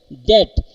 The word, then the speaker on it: debt: the time of the, for example here DEBT, D, B, T, these are three consonants, but instead we do not say depth but we say det, means B and T, in there is a silent B is there and T sound is produced.